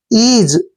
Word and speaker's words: ease: देखिए EA का उच्चारण यहाँ हम ई करेंगे, और SE को यहाँ पर जय का उच्चारण देंगे। जब भी एस से पहले ये आता है तो एस का उच्चारण जय होता है।